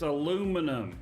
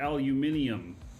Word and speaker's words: aluminum: You also pronounce it wrong. It's aluminum, not aluminium.